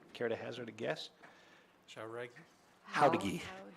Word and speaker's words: Jauregui: Howdigi. She pronounces it Howdigi. Miss. Howdigi. There you go. It's right underneath. Phonetically, right underneath.